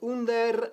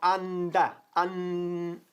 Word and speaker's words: under: Ojo que no decimos under, sino anda. Anda. ¿Ok? Muy importante la pronunciación de anda.